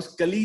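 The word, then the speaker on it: Sculley: John स्कूली नाम है इनका, जॉन स्कूली, राइट? जॉन स्कली या जॉन स्कूली जैसे भी प्रोनाउंस करता है।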